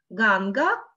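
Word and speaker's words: गङ्गा: Первая «а» будет короткая, тогда как вторая будет длинная.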